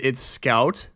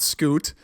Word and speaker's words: Scout: Again, it's Scout. It's not Scoot.